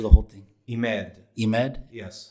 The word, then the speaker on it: Emad: you pronounce your name I don't want to butcher the whole thing he made eMED yes how do you say your last name